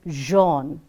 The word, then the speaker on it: Jean: French names, when pronounced, have to take the origin of their language.